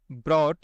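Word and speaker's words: brought: इसे हम पढ़ते हैं ब्रॉट। यहां पर जी एच साइलेंट होता है।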